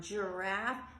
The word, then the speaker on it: giraffe: With your older kids, that's when you can point out and giraffe makes that jiff like a J sound sometimes just like the name Jerry can say Jerry or Gary when you're reading it as well.